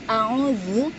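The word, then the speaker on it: أعوذ: Jadi a'udzu udah ya, ditekan a'udzu. Jadi ketika diucapkan itu terasa di rongga mulut kita itu serasa kayak bergetar kayak gitu.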